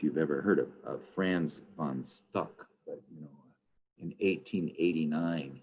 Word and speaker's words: von Stuck: It's called The Wild Hunt, and it's by Franz von Stuck. You know, it's just like it's spelled, VONSTUCK.